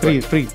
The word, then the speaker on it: Fried: Fried. Yep. Okay, sorry. I mean, as an Italian, nobody pronounced my surname and name well when I do interviews.